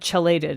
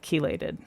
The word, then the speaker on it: chelated: Oh, he said chellated instead of chelated. I see. That's a very reasonable That's one of those like Yeah. If you if you don't have any reason to know the word chelated or keelation or chilate, there's no reason you would look at the word c h e l and go, "Ah, yes, that's obviously pronounced keel, right?"